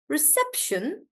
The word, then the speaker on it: reception: in Independence Independence reception so the stress is on SE reception dramatically stress is on